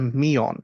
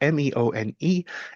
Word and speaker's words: meone: And the first is a meon. And a meon, it's spelled Meone.